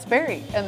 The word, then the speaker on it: Sperry: SCARY…THAT RHYMES WITH SPERRY…AND THAT’S WHERE WE’RE HEADED NEXT…TO TAKE A RIDE DOWN A PATH THAT’LL HAVE YOU JUMPIN FOR SURE.